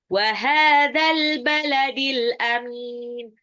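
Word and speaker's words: وَهَٰذَا الْبَلَدِ الْأَمِينِ: Wahadzal baladil amin. Haknya matabi'i 2 harokat, al-baladi alif lam qamariyah, alif lamnya dibaca. Ya, al-amin itu juga alif lam qamariyah, mimnya itu mad arid li sukun. Wahadzal baladil amin.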